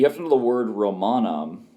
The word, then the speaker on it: Romanum: You have to know the word Romanum, but Romanum actually has a long O there, which kind of throws a wrench in things because that's just one where it's long by nature and it's part of the root.